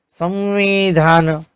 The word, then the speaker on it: संविधान: अब व की बात करें तो व से पूर्व जो अनुस्वर लगता है तो उसका उच्चारण म की तरह होता है। जैसे संवाद, संविधान।